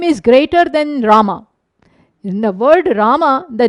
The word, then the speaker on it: Rama: That fellow could not even utter the word Rama properly. He pronounced it as Mara Mara.